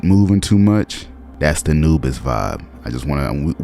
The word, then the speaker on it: Anubis: Today we talk about Anubis. I thought about Anubis and how that shit rhyme with cannabis.